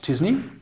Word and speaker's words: t-SNE: and the successor that's the famous disney tsne pronounced disney by van der marten